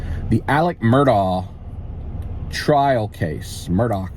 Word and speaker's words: Murdaugh: uh crime news the Alec murdaugh trial case Murdoch Murdoch he's pronounces his name unusually spelled like Alex um